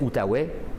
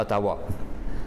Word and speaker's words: Outaouais: les fours eux mais les français prononcés outaouais et les anglais prononcé à ottawa donc c'est pour ça